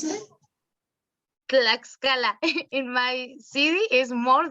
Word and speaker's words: Tlaxcala: Yeah, how do you pronounce that? Tlaxcala.